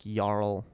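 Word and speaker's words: jarl: uh circumstances and oh it's the norse pronunciations okay yarn like yarl this is the yarl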